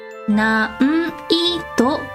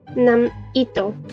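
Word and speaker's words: 難易度: mouth and just say It's closer to the M sound. So 難易度.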